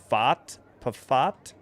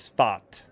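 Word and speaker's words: Pfaadt: Pafat? P-F-A-A-D-T is the pitcher. I'll turn this down. Dun, dun. Okay, it is Fat.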